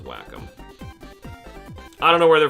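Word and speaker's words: Wacom: good enough whack them it's w c o m just pronounce it like waycom or like say it like won but the company says whack them I don't know where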